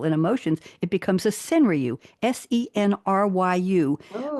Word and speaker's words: senryu: If you make it about people and emotions, it becomes a senryu, SENRYU. 5 syllables, 7 syllables, 5 syllables, the same exact number of syllables and count as a haiku, but it's called a senryu.